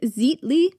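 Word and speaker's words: Xitle: Quiquilo was only roughly about 10 miles away from a volcano called I think you pronounce it Zitly. Xi TL E.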